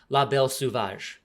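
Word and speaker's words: La Belle Sauvage: actually one of the main protagonists of um La Belle suvage um and uh I looked up how to pronounce that because I was tired of mispronouncing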